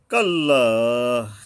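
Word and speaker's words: كَلَّا: কাল্লা, কাল্লা, এখানে একালিপ টান আছে।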